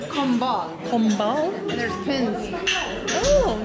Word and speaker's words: Combal: Pronounce the name? That serves beer. It's Combal.